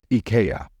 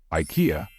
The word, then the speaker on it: IKEA: brand I know that many non-native speakers say it as Ika however in English we say Ikea be careful what did